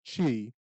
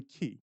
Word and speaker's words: chi: way that it's spelled it's really key so it's the C and the H is kind of like breath so you're going to use your key and you can key ey or shout don't